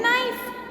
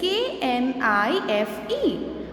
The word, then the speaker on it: knife: are silent for example in knife the spelling is k n i f e but we spell it from the nu sound from n which is knife so k in this word is silent so silent letters are